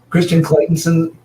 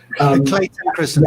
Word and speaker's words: Clayton Christensen: So Christian Claytonson, how do you say his name? Clay Christensen. Yes. Clayton Christensen.